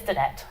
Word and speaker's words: Dunnett: And our last speaker is Dunnett. I pronounced that correctly? It's good enough. It's good. Yeah, Donette, whatever you want, it's fine. What is it actually? It's Donette.